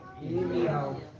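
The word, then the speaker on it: ירמיהו: Como é que é a pronúncia do nome Jeremias no hebraico? Irmial.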